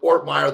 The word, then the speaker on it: Ortmayer: here is uh everybody knows travis zorda meyer ortmire the world i say your name wrong on purpose by the way i got